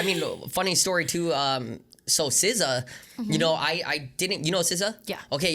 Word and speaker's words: SZA: It's like, no, it's not Sa. I was like, what is it? It's like SZA.